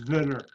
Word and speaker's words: Zwitter: It's Zwitter. In German, W is pronounced like a V.